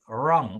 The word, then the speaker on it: wrong: The W is silent because we say wrong. We start with the letter R when we say that word.